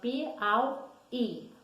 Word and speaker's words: Piauí: 32 tempo para você a palavra piauí qual é a sílaba tônica piau e fica sozinha não é a sílaba tônica é a última penúltima ou antepenúltima é a última pode ser ao e olha a última sílaba que finalizar ele então essa é oxítona a sílaba tônica pegar